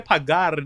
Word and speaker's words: pagar: Also, I said, that's not how you say that. You say pagar. That's how you say it. And you got to roll that R.